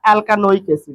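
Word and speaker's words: alkanoic acid: और IUPAC में carboxylic एसिड को बोला जाता है एल्कानोइक एसिड। क्या बोला जाता है? एल्कानोइक एसिड। लास्ट में उच्चारण करना है ओइक एसिड, ओइक एसिड।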